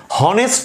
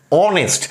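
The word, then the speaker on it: honest: আসছে না আসছে কি হনেস্ট তো বলছি না বলছি অনেস্ট একটা ভল সাউন্ড আসছে সেই কারণেই এটা ব্যতিক্রম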